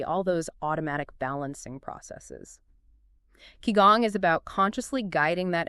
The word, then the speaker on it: qigong: Qigong. Pronounced Qigong, right?